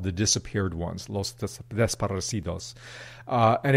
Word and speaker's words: desaparecidos: recent history that I wasn't familiar with called desaparecidos.